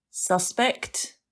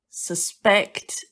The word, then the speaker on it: suspect: So suspect, noun, suspect, verb.